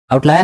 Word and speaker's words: outlier: आउटलायर बोल रही हो कि आउटलियर बोल रही हो? आउटलायर है ना। प्रोनाउंसिएशन आउटलियर है कि आउटलायर है? आउटलायर है पक्का।